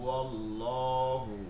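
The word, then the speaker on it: الله: লামকে পূর্বা মোটা করে পড়তে হয় যেমন হু আল্লাহু হু আল্লাহু হু আল্লাহু লহু এই যে ল ল উচ্চারণ হচ্ছে আল্লাহ আল্লাহু আলাল্লাহি আল্লাহি জাযাকাল্লাহু জাযাকাল্লাহু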